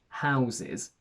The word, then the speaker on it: houses: about house is that its plural is irregular because the final s turns into a z so we say houses we have to close